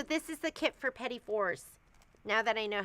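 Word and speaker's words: petit fours: Oh, so this is the kit for petty fours now that I know how to say it.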